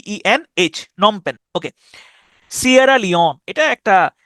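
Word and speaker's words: Phnom Penh: দেখেন বানানটা কিন্তু ইন্টারেস্টিং আছে। উচ্চারণটা হচ্ছে নমপেন। যেটা হচ্ছে কম্বোডিয়ার রাজধানী। কিন্তু বানানরা খেয়াল করেন পি এইচ পি এইচ এন ও এম নম প্যান এইচ নম এবং প্যান উচ্চারণ হচ্ছে এইটুকুর কিন্তু বাড়তি আগে পরে অংশ আছে পিএইচ হচ্ছে একটা অংশ এবং শেষে এইচ হচ্ছে আরেকটা অংশ তাহলে নমপেন এটা হচ্ছে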